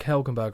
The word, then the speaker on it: Helgenberger: When I saw Marg Helgenberger, I was like, they must have said that wrong.